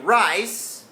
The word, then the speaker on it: rice: ใหม่ ครับ If I find Light In My Rice then อัน นี้ คือ ตัว แทน ของ เสียง